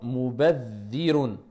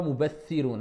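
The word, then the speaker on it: مبذرون: Mubadhirun. Et pas mubathirun, hein, parce qu'on appuie. Non, mubadhirun. C'est simplement, je reste, doubler la lettre, je reste dessus un peu plus longtemps.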